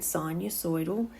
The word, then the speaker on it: sinusoidal: Circular functions give you what we call a sinusoidal, that's how you say it, sinusoidal function, which is this wave-like function that looks like this.